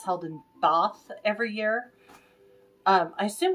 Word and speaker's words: Bath: bathtub but in um Jean Austin films they pronounce it both so I'm going to say both because that